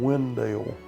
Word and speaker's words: Wendell: so people in town started saying we're from windale and now the community is called known as